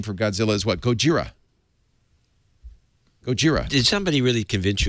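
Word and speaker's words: ゴジラ: in the studio today how do you say godzilla in japanese chat room gojira right chat room says gojira yeah a guy named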